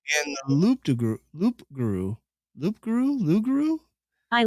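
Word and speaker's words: loup-garou: the loop to group Loop Guru Loop Guru Guru I like you the p is silent means wolf and grooming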